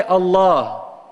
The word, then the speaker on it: Allah: in any other language if you say Allah Allah it has only one meaning and it's actually a name and it sounds like it's 2 syllabus a two syllable word a two syllable word